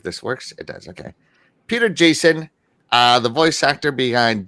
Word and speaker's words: Peter Jason: giz of War uh Peter Jason yeah I said it right this time should I I know